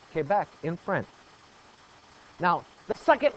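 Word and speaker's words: Québec: that's why it's Quebec it is a French word and it is pronounced Quebec in fren now the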